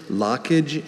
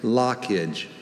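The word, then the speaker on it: lochage: Is that because of the LOCH? Exactly that. Lockage. Am I pronouncing this right? We'll tell you if we hear anything wrong. Lockage. L-O-C-K-A-G-E. Lockage. Lockage is L-O-C-H-A-G-E. Congratulations on a great performance, Benjamin. Thank you for the opportunity. And in Greek, that sound is often made by the CH combination.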